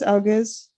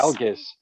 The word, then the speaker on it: Algiz: It's Algiz. I might be saying it wrong, but that's very similar to Sean's last name. It is. Yeah, Algiz.